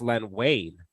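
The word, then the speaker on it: Len Wein: other day I had to tell you it's pronounced Len Wayne right yeah there there's a bunch of back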